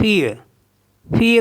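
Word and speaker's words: fille: आई एल एल ई तो इसको पढ़ते हैं फीय फीय मीस होता है गर्ल जैसे एफ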